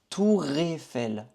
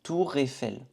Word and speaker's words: Tour Eiffel: Tour Eiffel. On connecte aussi. Tour Eiffel. On dit tout d'une seule fois.